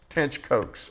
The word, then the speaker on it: Tench Coxe: Tench Coxe is his name. It's Tench and then Coxe.